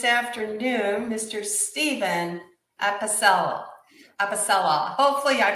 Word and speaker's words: Apicella: with me this afternoon mr stephen at pacelle episella hopefully i pronounce that correctly you got it okay finally